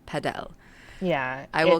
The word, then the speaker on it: padel: My God, So I'm never gonna be yeah, able to say padel. yeah. I will call It's it paddle.